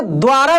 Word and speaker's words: द्वारा: तो इसमें देखिए दोस्त द का उच्चारण काफी तेजी से हो रहा है, मतलब कि आधा द है, वारा, देखिए द्वारा, द्वारा यानी आधा द है और वह है, समझ रहे हैं ना।